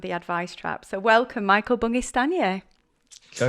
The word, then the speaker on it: Michael Bungay Stanier: So, welcome, Michael Bungay Stanier. So it's really nice to be here. Nice job pronouncing my name.